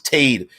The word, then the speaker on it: Tade: rose water uh um tate i'm pronouncing it fade so it's tade tade thompson see there